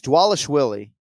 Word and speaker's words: Dvalishvili: may rob and it's is it dwalish wheelie yeah it's dwalish willy yeah but it's like he's here exactly yeah the v's are w's yeah cody doesn't it